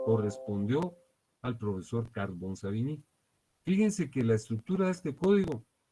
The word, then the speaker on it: Savigny: Aquí dice Savigny, pero según las personas versadas en el idioma alemán se pronuncia Savigny.